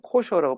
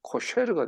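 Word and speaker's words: kosher: 나오는 것은 의미심장합니다 즉 코어를 영어로 하면 코셔라고 발음이 되고 히브리어 원어로 하면 코쉐르가 돼요 삶에 대한 호셔는 코쇼는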